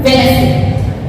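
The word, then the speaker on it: Wednesday: एन से पहले अगर, तो डी की साउंड ड नहीं आएगी, वेडनेसडे नहीं होता, वेडनेसडे होता है, वेडनेसडे।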